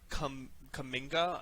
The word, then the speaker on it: Kuminga: Yeah, they traded Jonathan Kuminga, I'm guessing is how you pronounce that. Yeah, no, you got it.